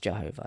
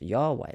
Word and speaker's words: Yahweh: They've got rid of it with Jehovah, but it was never pronounced Jehovah. It was always pronounced Yahweh.